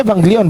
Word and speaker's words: Evangelion: Ini Evangelion bacanya Pak. Jangan ngeyel.